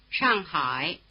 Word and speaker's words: Shanghai: Notice that the dip thong I is spelled AI as in Shanghai which is pronounced in Chinese like this. Shanghai.